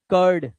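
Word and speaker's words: curd: यू के बाद आर आया तो यू का जो उच्चारण है वो आ होगा। आ। ठीक है? जैसे बर्फ कर्ड। दही को बोलते हैं। दही की इंग्लिश है।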